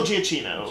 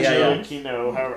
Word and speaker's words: Giacchino: Michael Giacchino. Yeah. Giacchino. I don't know if it's a hard C.